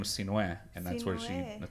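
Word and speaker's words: Sinhue: My full first name is spelled S-I-N-H-U-E. And it's pronounced Sinue.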